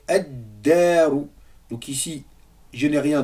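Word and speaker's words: الدار: Ici, on fait la même chose avec ad-daru.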